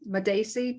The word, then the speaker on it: Madacey: Welcome to the Two Sisters podcast um Julie madaci did I say that question well done you